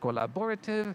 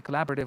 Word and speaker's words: collaborative: I said collaborative, and it should be collaborative with the stress on the second syllable, for example, and so on and so forth.